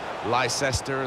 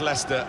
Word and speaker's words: Leicester: rest of the world try to learn how to pronounce their name. Lysester and Lchester. We got a lot of that, didn't we? But very much Leicester and very much the leaders.